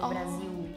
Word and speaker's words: Brasil: I think we just pronounce the L more. At least in Brazil, when we have L words, like in the end, we usually change the sound of L to U. So Brasil.